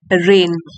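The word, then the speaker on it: reign: रेन ऑफ एंपरर Akbar यहां पे जी silent है इसको बोलेंगे रेन अब देखिए अन पैरेलल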